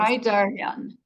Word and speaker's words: Saraydarian: then the last name, how how does it pronounce? Saraydarian.